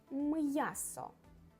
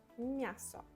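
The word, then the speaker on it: м'ясо: Without soft sign it will be miaso, miaso, and that's not correct. Miaso. Yeah, we have m sound. We need to have m. M'yaso. We need to pronounce m hard, and then ya, because letter ya consists from these sounds, and s, o on the end. M'yaso. I pronounce all sounds. It's incorrect to say miaso.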